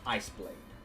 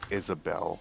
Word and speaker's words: Iceblade: That is Iceblade. Oh. Okay. I always thought it was like Isabel, and it was just spelt weird. No, that is Iceblade.